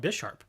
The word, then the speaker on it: Bisharp: buy sharp some people some people say bish bisharp now i understand why people call it bisharp because it's supposed to be a play on chess on the chess piece because you have ponyard